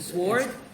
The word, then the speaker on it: sword: Don't know, but it's a sword. No, you pronounce it sword, but it's a silent W.